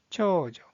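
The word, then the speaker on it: 長女: 장녀라는 뜻을 가지고 있는 이 한자의 발음은 초조, 초조.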